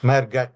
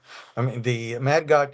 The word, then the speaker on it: Mehrgarh: It's like Chandigarh, I think. Mehrgarh is how I pronounce it.